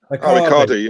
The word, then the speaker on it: Icardi: Icardi, yeah.